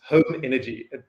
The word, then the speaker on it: Home Energy: There's no silent H here, it's Home Energy.